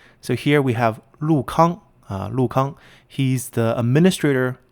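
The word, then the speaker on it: 陸康: Even though the first character are both spelled Lu, they're pronounced a little differently, different tones.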